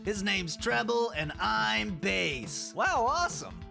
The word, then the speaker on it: Bass: But I think it's pronounced Bass. What? Well, I mean, you're supposed to be a fish robot master, right? That's why you got those fins on your head.